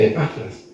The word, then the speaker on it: Epafras: Y gracias a Dios que permitió que Epafras, dicen que el nombre se pronuncia Epafras, pero son las mejores épafas.